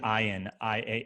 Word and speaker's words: Ian: His name is Ian. Ian. Spelled Ian, but pronounced Ian.